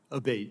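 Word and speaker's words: Abbate: to happen again yes ma'am ever uh Mr Abate and am I saying your name properly we've heard it pronounced three different ways today in the hearing aate Senator aate okay thank you um you had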